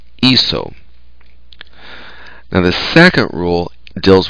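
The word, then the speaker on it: hizo: Because the stem is is, H-I-C, we need to remember that C changes pronunciation when it's followed by an O. So we'd have to change the C to a Z to preserve the pronunciation. So we have iso.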